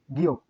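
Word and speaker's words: 기역: তাহলে এই বর্ণের উচ্চারণ 7-এর মতো দেখতে গ, এই বর্ণের উচ্চারণ গিয়ক, গিয়ক।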